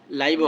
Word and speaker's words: live: উচ্চারণ কিন্তু দুইটা আছে, একই শব্দ, LIVE, লিভও হয়, লাইভও হয়।